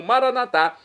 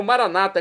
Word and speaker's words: Maranatá: E agora eu clamo Maranatá, como dizemos nós católicos, ou Maranata, como dizem nossos irmãos separados das comunidades evangélicas ou protestantes. É do aramaico, dialeto de Jesus. Não importa a pronúncia, o significado é o mesmo.